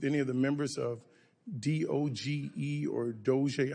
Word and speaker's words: DOGE: I just call it Doge like others do.